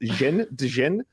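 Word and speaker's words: Dhejne: Cecilia, her last name is pronounced Dejen.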